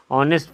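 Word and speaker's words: honest: ऑनेस्ट मैन, फिर वही ऑनेस्ट, इसको हॉनेस्ट नहीं पढ़ेंगे, ऑनेस्ट पढ़ेंगे, एच साइलेंट है तो ओ से उच्चारण ऑनेस्ट हो गया इसलिए इसमें भी एन लगेगा।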